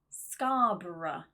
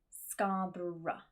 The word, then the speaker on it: Scarborough: Next up is just the schwa sound, which is that dropped sound, that very small vowel. For example, borough, thorough, and Scarborough, which is a place here in the UK. Actually, we have a lot of cities or areas which have that OUGH ending inside that use the schwa pronunciation.